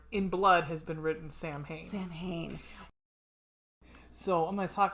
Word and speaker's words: Samhain: get a question mark samhain a gaelic word pronounced someone sawin so yeah saw one is usually celebrated from